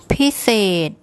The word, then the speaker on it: พิเศษ: So it's the first syllable is high and the second is low. I'll just get Pom to say that for you again. พิเศษ พิเศษ พิเศษ Okay, so that's it.